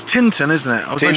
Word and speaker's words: Tintern: and say things right tin don't say Tintin cuz that's Tintin her Adventures of Tintin so yeah Tinton I think that's the correct way to say it so where we're